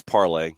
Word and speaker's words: Parley: I think it's parlay. I think it's a parlay kit. I think it's parlay when it comes to pronunciation.